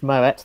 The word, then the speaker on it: Moët: So Moët and Chandon, and it is Moët, that's the correct way to pronounce it, apparently.